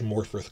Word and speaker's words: Morfydd: they got's pretty good, Morfydd Clark. And notice that her first name is spelled with two D's, but it's pronounced as in TH, Morfydd Clark.